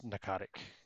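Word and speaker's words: Pnakotic: but I think it's narcotic I assume the P is silent necrotic manuscripts and you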